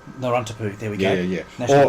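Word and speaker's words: Narawntapu: And I think it's pronounced Narrowuptu National Park. Narrontapu.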